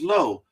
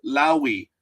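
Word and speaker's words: Lowe: The name is Low. And I know there's this player in Major League Baseball that says or pronounces Lowi. It's like, dude, I'm sorry that you're stupid. In America, it's low. It's the way it is.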